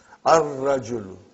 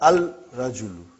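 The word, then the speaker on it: الرَّجُل: Ar-rajulu. Huh? The man. Huh? Not al-rajulu. Huh? It will be wrong to say al-rajulu. It will be ar-rajulu. We won't pronounce lam. Why? Because it is a sun letter.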